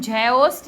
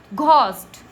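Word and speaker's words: ghost: जी एच ओ एस टी इसको हम झोस्ट नहीं पढ़ते हैं। हम बोलते हैं घोस्ट इसको हम ऑनेस्ट ओ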